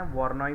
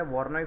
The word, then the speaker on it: Voronoi: एक हम लोग लेते हैं वॉर्नॉय फ्रैक्चर। क्या? वॉर्नॉय फ्रैक्चर, VORONOI। ठीक है, अच्छा, VORONOI, ये देख रहे हो स्पेलिंग है VORONOI, वॉर्नॉय फ्रैक्चर।